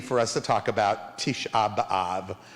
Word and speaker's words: Tisha B'Av: us to talk about tisha b'av or as you may have heard it with the more yiddish pronunciation tish above this is a very